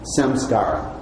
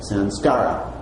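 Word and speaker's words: saṃskāra: in sanskrit is called samskaara s am some SCARA sk a ra samskaara you might pronounce Sam's car you might pronounce it sounds like so the sound car is what the unexpressed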